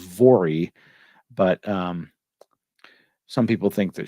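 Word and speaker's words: Voirrey: They spell it here Volrrey. I think it's pronounced Vori, but some people think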